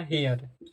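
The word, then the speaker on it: hair: किसी वर्ड में देखो जब किसी वर्ड में ए आई के बाद क्या है यहां पर आर तो इसी ए आई को ए प्रोनाउंस किया जाता है तो इसे क्या पढ़ा जाएगा हेयर हेयर मतलब क्या होता है आपको मालूम होगा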